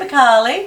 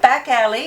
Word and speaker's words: Bacali: Yeah, Bacali. Not back alley, like some people call it back alley or bacalai.